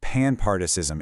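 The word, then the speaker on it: panpsychism: This is where we bring in a framework called panpartism, and that's pronounced pan-part-ism.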